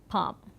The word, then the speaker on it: palm: For example, palm, we could see that the sound M is a lip consonant and the L, at one point this L was pronounced in the medieval period, but it was gradually through a process of this great vowel shift, we find that the L sound getting completely dropped and the word getting pronounced as palm.